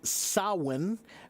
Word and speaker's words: Samhain: So, Seeker, the pronunciation of the word is Samhain, but the spelling of the word is very, very crazy because it comes from this old language called Gaelic, Celtic Gaelic, and the Gaelic language is a crazy language.